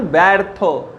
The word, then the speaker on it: ব্যর্থ: ব্যর্থ। এর উচ্চারণ কি? ব্যর্থ। তাহলে অকার যুক্ত জফলা থাকলে তার উচ্চারণ হবে ব্যর্থ, অর্থাৎ এ উচ্চারণ হবে।